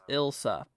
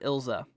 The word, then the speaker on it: Ilsa: ilza okay Julie says uh Elsa is indeed pronounced ilsa gotcha some people pronounce it ilsa okay I'm gonna call it ilsa because that's kind of what it sounds like